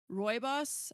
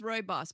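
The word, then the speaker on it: rooibos: ingredients are hibiscus chamomile roy boss. I had to look up how to pronounce that because I wasn't sure. So it's roy boss but anyways boss um strawberry pieces orange blossom and lemon peel.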